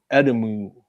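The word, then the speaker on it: Edimu: and this demon called Edomu or I don't know if that's how you say it but I say Edomu cuz it's E D I MU. So Edomu works for me and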